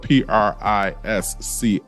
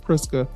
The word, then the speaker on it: Prisca: It looks like it's supposed to be pronounced really pretty, and I want to make sure I pronounce it pretty because it's spelled P-R-I-S-C-A.